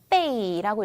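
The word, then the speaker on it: 被: 빼이라고 읽죠. 빼이 사성으로 읽고요.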